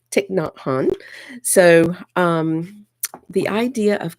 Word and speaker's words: Thich Nhat Hanh: talk about this book tick not Han and somebody on one of my insight timer lives told me how to pronounce his name correctly so I was excited about that tick not hon so um the idea